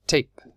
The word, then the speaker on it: tape: friend and we have tap and we have tape so tap and take this is tap these